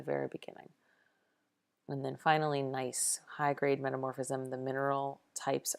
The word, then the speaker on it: gneiss: way that is pronounced nice the G is silent it's a mad nice